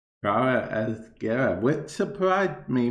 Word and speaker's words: Gara: Okay, because Lotus actually pronounces it as Gera.